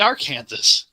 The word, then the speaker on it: Arkansas: It's Arkansas. The correct pronunciation is Aranza, not Ar Kansas.